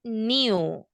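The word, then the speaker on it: knew: Okay, so let's remember that when you have KN, cuando ustedes vean una palabra que comienza con KN, the K is silent. Silent. Yeah, okay, so new. You don't pronounce the K, okay?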